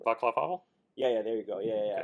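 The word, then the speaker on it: Václav Havel: I can't remember how to pronounce his name. Vaclav Havel?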